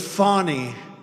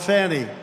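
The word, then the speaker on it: Fani: been destroyed because of fonny f a n i fny you have to pronounce it fonny it's called Fanny you have to pronounce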